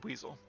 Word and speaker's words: Buizel: Also, I did look it up, and it is pronounced Buizel. I looked up some clips of the anime where Ash actually had a Buizel, which I had forgotten